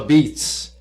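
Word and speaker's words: apizza: It's called the Beats, but it's spelled A P I Z A.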